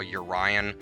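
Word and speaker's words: EURion: there is a little constellation thing they call urian which is spelled e-u-r-i-o-n and that's an anti-counterfeiting measure so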